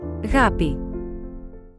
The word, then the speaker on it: ἀγάπη: This is how this word is pronounced. Αγάπη.